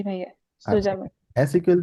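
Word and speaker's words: zusammen: বিয়ার জুজামেন previously হচ্ছে আমরা রশ্নি আপু এখানে জুজামেন আমরা বলবো না এ ওয়ানে আমি আপনাদেরকে বলেছিলাম হয়তো মনে আছে জেড কে এস এর মত উচ্চারণ করব ঠিক আছে জেড ইকুয়াল টু এস জি ভাইয়া সুজামেন এস ইকুয়াল টু জেড মনে রাখতে হবে সবসময়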